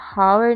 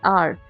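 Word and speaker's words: hour: तो एच का जो हम जो भी साइलेंट एच होता है स्पेलिंग्स में जैसे यहां पे हम हावर नहीं पढ़ते इसको। Right? We pronounce it एज आर।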